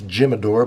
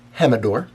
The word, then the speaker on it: Jimador: all right el Jimador looks like it's Jim adore but it's actually pronounced hem adore it is 80 proof